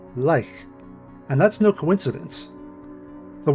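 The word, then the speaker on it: lych: The first part of that word, the one we're interested in, can sometimes be spelled with a Y and pronounced with a long I and hard K sound, Lich.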